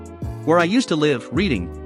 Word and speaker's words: Reading: Where I used to live, reading, pronounced Reading if the slash of RS is reading this, I went to a primary school nearby my house.